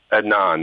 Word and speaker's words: Adnan: I mean, he was afraid of going to jail, but not like he was afraid of Adnan, I guess is how you say his name. I don't know. Adnan, that's it.